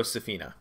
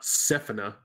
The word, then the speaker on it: Safina: Very pro Safina. Mm-hmm. And let's be clear on the pronunciation here. Yeah, The no, emphasis that's goes on the second syllable. not Sephina. Who would say that?